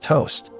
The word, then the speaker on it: t0st: Early 2021, a programmer who goes by the handle T0 SD, pronounced toast, picks GTA online backup after a break.